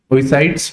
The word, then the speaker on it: oocyte: Then it is looking at group of persons had forced a minor girl to sell her oocytes to private hospitals.